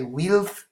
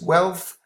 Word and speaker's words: wealth: that you have mentioned be careful with the planet with the pronunciation of wealth a guy don't be tempted to say we'll know this is wealth okay it means the